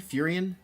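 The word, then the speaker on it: Faerûn: How do you pronounce it? Faerun? Faerun?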